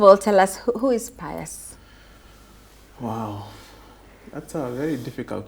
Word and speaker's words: Pius: So some people call him Pius. Some people call him Payo. Paya. Paya. And others call him Pius. And the right way to say it is Pius.